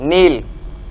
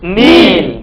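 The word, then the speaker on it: kneel: wonder wonder wonder next नील घुटने टेकना इसमें के साइलेंट है दोबारा बोलिए नील नील नील नेक्स्ट सर्कुलेट घुमाना सर्कुलेट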